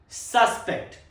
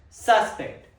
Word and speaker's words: suspect: Example, the police have a main suspect. Suspect. Second pronunciation, suspect. Suspect. It's used as a verb in a sentence. Meaning to believe something is likely, to distrust.